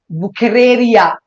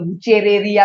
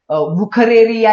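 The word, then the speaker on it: Wuchereria: बुखेरेरिया, थोड़ा सा प्रोनाउंस करने में और स्पेलिंग में डिफरेंस दिखाई देगा, कभी कभार लोग बुचेरेरिया भी बुलाते हैं। बुखेरेरिया is more appropriate, I would say that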